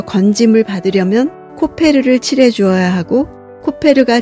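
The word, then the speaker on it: כֹּפֶר: 만들기는 역청을 발음으로써 마무리됩니다 역청은 히브리어로 코페르입니다 바른다는 것은 같은 어원에서 나온 카파르입니다 고페르남으로 만든 방주에 코페르를 카파를 해야 합니다 코페르에는 몸값 속전이라는 뜻도 있습니다 방주가 바다에서 건짐을 받으려면 코페르를 칠해주어야 하고 코페르가 제 기능을 하려면 나무가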